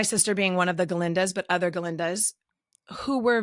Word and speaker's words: Galinda: being one of the galindas but other galindas who were very um with a g with a g with a G the g is silent um very over-the-top comedic